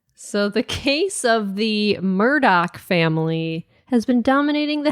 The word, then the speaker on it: Murdaugh: the family is that the name is spelled Mur d a u g h should be murd but it's Murdoch that is the weirdest I